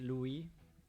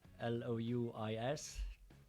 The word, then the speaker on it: Louis: My son is called Louis, like spelled like the French way, Louis, L-O-U-I-S, which would be Louis in English, but most people in Luxembourg have French sounding names.